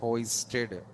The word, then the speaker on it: hoisted: So X variable is hoisted. X variable is hoisted. But you said hoisting sir. Total concept hosting explanation. But here pronunciation is this one. Hoisted.